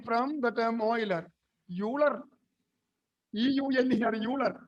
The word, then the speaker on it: Euler: Euler, E-U-L-E-R, Euler. It's Euler. The pronunciation is Euler.